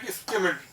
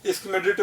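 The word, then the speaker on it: Schmidt: थे वो कौन थे, स्किमिड, स्किमिड, ठीक है ना, डी साइलेंट है, चाहो तो तुम स्किमिडिट बोल दो, जो तुम्हें ठीक लगता है, स्किमिड बोल दो, ठीक है, डी साइलेंट है इसमें।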